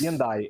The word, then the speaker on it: Gendai: A pronúncia é Gendai mesmo, é isso? Gendai, é.